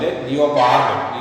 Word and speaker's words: leopard: The next is a leopard. Here is a R silent, leopard.